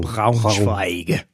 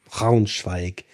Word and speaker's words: Braunschweig: Braun into the guttural R. Braunschweig. Braunschweig.